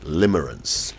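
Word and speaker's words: limerence: that's it that's how to say it right limerance nice word okay let's do the news review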